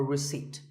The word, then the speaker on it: receipt: in word number 24 receipt the P is silent when you purchase something or you pay a bill you get a receipt now if you don't